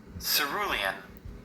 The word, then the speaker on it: cerulean: And this is how it is pronounced. Cerulean. And I know I don't think I said that right. Cerulean.